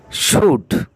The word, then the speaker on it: should: কুড, কুড, কুড, COULD, কুড, এখানে এল এর উচ্চারণ নেই। শুড, SHOULD, শুড, এখানেও শুড, এখানেও এল এর উচ্চারণ হবে না।